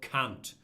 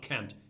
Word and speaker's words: Kant: young cursed again Immanuel Kant that's how it's pronounced in German it's not Kent it's